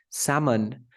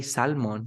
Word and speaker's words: salmon: the most common one salmon you never say salmon you say salmon or the joke the